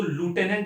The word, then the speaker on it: lieutenant: इसको लूटेनेंट बोलते हैं यूके प्रोनाउंसिएशन में, यूएस प्रोनाउंसिएशन में।